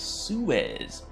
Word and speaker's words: Suez: to the stream Suez thank you very much that's how you say it Suez do I drink iced